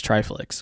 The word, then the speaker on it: Triflix: somebody asked me today how you pronounce triflex which I I've had a couple people really botch all two syllables I don't get it I mean it's like it's like Netflix it's like and he's one